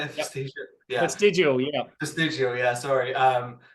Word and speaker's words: Vestigial: I checked out Vestigio. Is that how you say it? Yep. Vestigio? Yeah. Vestigial.